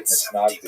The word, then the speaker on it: Misnagdim: He is the acknowledged head of the movement known as the Mitnagdim, or the Misnagdim, as it is pronounced in Ashkenazi pronunciation.